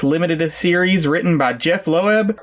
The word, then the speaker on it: Loeb: series written by Jeph Loeb. Did I pronounce that right? Or is it just Loeb? I've always seen it pronounced as Loeb.